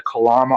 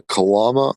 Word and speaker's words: Kalam: The Kalama argument? No, I don't recall if I have. It's not actually the Kalam. I'm saying it right. It's the Kalam.